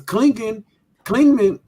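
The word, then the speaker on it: Clingan: Because Klingman, that's how you say his name, he actually kind of showed you some DeAndre Ayton tendencies.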